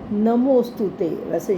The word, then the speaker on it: नमोस्तुते: अब ये नमोस्तु जब बोलना है, ओ के बाद एस साइलेंट है, ओ के बाद आधा स आएगा। नमोस्तुते वैसे शब्द है नमः अस्तु, लेकिन हमने इसको बोलना है नमोस्तुते।